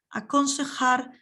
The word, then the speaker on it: aconsejar: That J is pronounced as a H, aconsejar sobre el alojamiento.